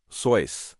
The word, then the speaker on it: Seuss: As for Seuss, it's actually his mother's maiden name, and it's supposed to be pronounced Soy, like voice, but after years of everyone rhyming it with goose, he just went with it.